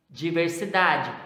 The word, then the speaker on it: diversidade: Diversidade, penúltima sílaba.